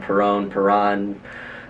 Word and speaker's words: Perron: For those who don't know, it's pronounced Perron. A lot of people pronounce it wrong. Perron. It's Perron. Like if you put a pear in the bag, or like something, I don't know.